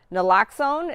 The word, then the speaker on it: naloxone: Yeah, so for people who don't know what Narcan is, the official term is naloxone. Is that right? Is that how you pronounce it?